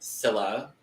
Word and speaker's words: Scylla: I believe their name is pronounced Scylla. Yes. Like silicone.